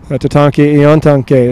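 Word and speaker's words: Tatanka Iyotake: And here's a part of that Sitting Bull Monument, Tatanke Iontanke. Is that the correct pronunciation?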